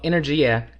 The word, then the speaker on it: energia: Yeah, well, ENERGIA is, and that is how you pronounce it, is Italian. It's the Italian word for energy.